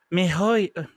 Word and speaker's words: miHoYo: So this is a free-to-play action role-playing game made by, how do you pronounce this developer? MiHoYo. MiHoYo.